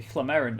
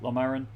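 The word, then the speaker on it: Llomerryn: Most human lands signed what I always insist on pronouncing as the Hlamerin Accord, even though the game pronounces it Lomarin, but there we go.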